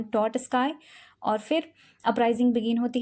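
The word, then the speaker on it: Trotsky: किया जाता है अंडर लियोन टॉटस्काई.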